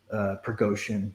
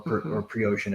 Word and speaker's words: Prigozhin: It's Yevgeny Prigozhin or Prigozhin if that G is soft, but yeah, he has one of the largest Bitcoin wallets as well.